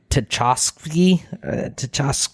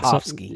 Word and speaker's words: Tartakovsky: So Primal is it's on HBO Max on the Adult Swim under Adult Swim, and it's from Grady Tchaikovsky.